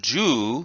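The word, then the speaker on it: 銃: it means short and then ju is elongated it has the long oo sound and this means gun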